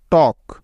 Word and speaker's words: talk: Next কে এর আগে এল সাইলেন্টের কিছু উদাহরণ। যেমন টক, TALK, টক।